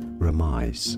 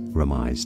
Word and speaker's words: remise: In English it's often said as remise. Remise. Now if you're looking at how it's said in French, remise. Remise. It's used in fencing, I believe. Remise. It's easy, or remise in English.